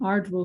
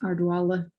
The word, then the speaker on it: Ardwell: other dialects in Ireland, where the BH in Vala, as you would pronounce it in ordinary Scottish Gaelic, might have been closer to w, a W sound. And this is where the w in Ardwell comes from, rather than the v that you see in Ardeville below.